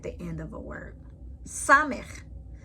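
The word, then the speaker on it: סמך: Samech. Samech makes an S sound, as in save.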